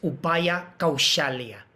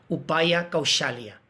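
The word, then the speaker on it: Kauśalya: es importante saber, es Upaya Kaushalya. Ese con un acento arriba se pronuncia SH, Sha. Upaya Kaushalya.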